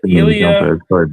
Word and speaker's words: Ilya: You got Ilya correct, which was very good. Ilya.